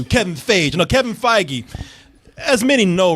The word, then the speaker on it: Feige: say this guy's Kevin Fage Kevin feige okay you pronouncing like it was yogurt yeah yeah Fage Kevin